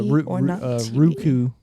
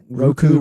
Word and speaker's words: Roku: tv then there's um what's the ruku tv roku roku i don't know why i say it wrong every time i'm sorry guys i'm